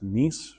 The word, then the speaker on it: Nice: Um, Nie Fe feeling n I but pronounced nice for the city in France.